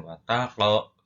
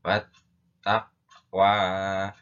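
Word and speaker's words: والتقوى: Maka membacanya tidak boleh ditebalkan, tidak boleh diberatkan. Wataqlo, ya, tidak boleh, tapi dibaca wat taqwa, wattaqwa. Itu namanya huruf qalqalah sughra, karena di atas huruf qaf itu ada harokat sukunnya yang berada di tengah kata atau kalimat.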